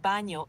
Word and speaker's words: baño: The word baño is pronounced ba-nyo with a soft ny sound like in the English word canyon.